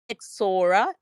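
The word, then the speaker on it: Ixora: Travis Sam said, Exoro, pronounced Exora.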